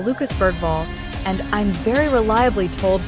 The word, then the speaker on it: Bergvall: man we call Lucas Bergvall, and I'm very reliably told by local journalists, and if you're going to pronounce it in the Swedish way, you pronounce it Lucas Judge.